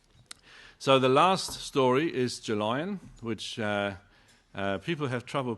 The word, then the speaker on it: Gelion: So the last story is gelion, which people have trouble pronouncing. I thought it was so easy, gel, iron. Yeah, a gel and an iron, gel iron.